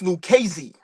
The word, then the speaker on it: Lucchese: The family is pronounced Lucchese.